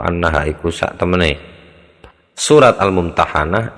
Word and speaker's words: Al-Mumtahanah: sak temene surat Al-Mumtahanah iku bi fathil ha'i kelawan fathait ha, jadi mumtahanah sigote maf'ul. Waqat tuksaru lan kadang-kadang tuksaru dipun kasroh apa ha, kadang dikasrohkan, jadi bacanya al-mumtahinah. Fa'alal awali moko ing atase ingkang awal, maksudnya berdasarkan pertimbangan pertama, yaitu dengan dibaca hak fathah hak al-mumtahanah.